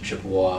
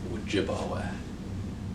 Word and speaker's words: Ojibwa: whack what i've heard chippewa and ojibwe are mispronunciations of ojibwa what jibawa means he